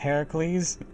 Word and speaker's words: Heracles: both assassins young her Hercules Hercules it's actually pronounced heracle that was just a Disney thing Ki has